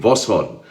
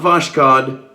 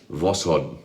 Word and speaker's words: Voskhod: enough for YouTube shaving Voskhod not voshkod Voskhod so there you go